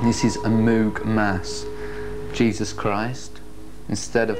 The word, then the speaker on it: Moog: Nearly every record contained a sentence explaining how Moog, which is supposed to rhyme with vogue or rogue, is actually pronounced.